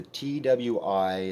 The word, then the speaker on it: Twi: but it's called the TWI. It's how it's spelled, um, but I think it's pronounced Twi or Twee maybe.